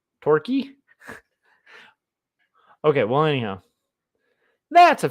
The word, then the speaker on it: Torquay: like anyhow totally um frank said torquay is pronounced torquay okay torquay but then why the a the a the a y torky okay well anyhow that's a funny sounding name